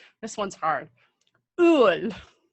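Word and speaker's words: Öl: Ul. That's it? Just 2 letters? Well, it's more about the pronunciation.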